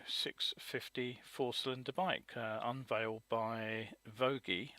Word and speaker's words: Voge: four-cylinder bike, unveiled by Voge, I believe it's pronounced, I've been informed, in China, spelt, it looks Voge, but Voge apparently is the pronunciation.